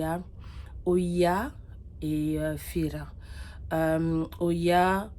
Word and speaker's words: Oia: Oia, ils le disent plus IA. En fait, ça s'écrit O-I-A.